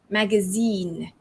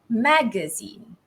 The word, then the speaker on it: magazine: this magazine magazine so zine is longer higher pitched and louder magazine compared to american english the stress falls on the mat the first syllable so it's magazine magazine right i have to use my chopstick can you see it right so are you following along british english first magazine versus american english magazine right the informal way